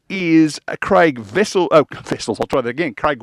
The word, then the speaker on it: Wessels: Now, the reason I said vessels, there used to be a cricketer played for Australia called Kepler Vessels. His surname was spelled the same way.